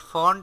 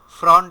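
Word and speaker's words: font: এটা খুব common mistake, but ফন্ট এক জিনিস, ফ্রন্ট আর একটা জিনিস। ফ্রন্ট অ্যান্ড জি ভাইয়া, ফন্ট can never be the same. আমার সামনে আর কোনো ফ্রন্ট উচ্চারণ করবেন না, ক্লিয়ার?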